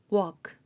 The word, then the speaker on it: walk: Silent L도 있습니다. W talk에서는 L이 소리가 안 납니다. 억제로 L 소리를 내려고 하면 오히려 입모양이 더 이상해집니다. walk talk 그렇게 발음하시면 되고요.